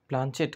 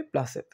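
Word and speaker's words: planchette: ঠেঙ্গিনা বলে তুই একটা গাধা প্লাঞ্চেট করে ভূত নামায় জানিসনে এরই মধ্যে কোত্থেকে পাঠার ঘুগনি ঝাড়তে ঝাড়তে কেবলায় এসে পড়েছে বললে উহু উহু ওর উচ্চারণ হবে প্লাসেত থাম থাম বেশি উত্তাদিসনে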